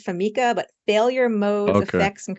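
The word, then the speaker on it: FMECA: So we say FAMICA. So we abbreviate it as FAMICA, but failure modes, effects, and criticality analysis.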